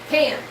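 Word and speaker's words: Cairns: But it's pronounced cans.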